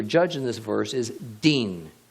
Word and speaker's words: din: in this verse is din, D-I-N, din. Notice the relationship to the word dan, D-A-N. In between the letters dalet and nun, the D and the N, only the vowel sound is changed.